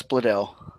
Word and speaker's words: Bledel: Alexis Bledel. Bledell. BL. It's spelled phonetically.